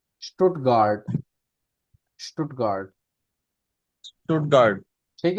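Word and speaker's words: Stuttgart: स्टुटगार्ड, स्टुटगार्ड, स्टुटगार्ड।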